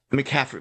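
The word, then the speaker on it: McCaffrey: a whole lot but like Christian McCarthy I think is like or M how you say his name um for the uh the ners um he might be mcaffrey yeah mcaffry M sorry um M must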